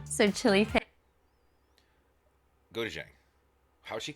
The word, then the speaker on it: gochujang: whole chunk of kimchi, the good old spam, gochujang, so chili paste. Gochujang. How'd she say that? I've been saying it wrong the whole time. The good old spam, gochujang, so Gochujang?